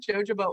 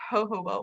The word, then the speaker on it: jojoba: if you haven't spelled i always called it jojoba oil until i started using essential oils and i felt so silly so it's pronounced jojoba oil sandalwood is very nourishing wendy i agree